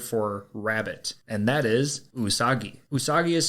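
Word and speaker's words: うさぎ: the Japanese word for rabbit and that is usagi usagi is spelled u-s-a-g-i and usagi is very relevant to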